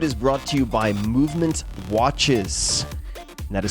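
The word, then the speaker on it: MVMT: shirts this episode is brought to you by movement watches that is spelled MV MT movement watches I first became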